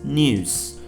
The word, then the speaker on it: news: In an American accent, the yacht is skipped. For example, news. It's news.